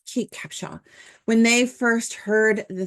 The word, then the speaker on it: Kate Capshaw: his wife cap Capa I can never say her name right Kate Capa I was want to say cape Capa anyways Kate Capshaw when they first heard